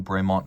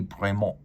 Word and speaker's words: Bremont: So technically it would be Bremont. It would not be Bremont, but that is the anglicized pronunciation and the official one.